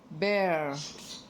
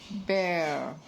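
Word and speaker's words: bear: This is बेयर। Repeat after me बेयर बेयर okay बियर इसको नहीं पढ़ेंगे जैसे कि कुछ लोग इसको बियर प्रोनाउंस करते हैं। इट इज बेयर okay and हु इज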